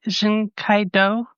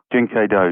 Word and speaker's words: Jin Kei Do: And am I pronouncing Jen Kaido? Jin Kaido.